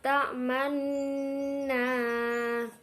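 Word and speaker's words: تأمنا: La ta'manna, di sini termasuk bacaan khorib yaitu ismam. Cara membacanya yaitu menampakkan dhammah. La ta'manna ala Yusufa, yu termasuk mad tabi'i karena wawu sukun didahului dengan harokat dhammah.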